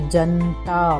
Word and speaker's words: जनता: इसी तरह जनता और बनता में भी जो न का उच्चारण है वो आधे की तरह ना करके पूरे की तरह ही करना चाहिए। जनता, बनता।